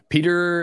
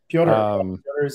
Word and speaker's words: Piotr: Peter is saying, or I assume that's how you pronounce that. Piotr.